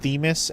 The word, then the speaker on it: Themis: little That's pronounced Theis after the Greek goddess of law.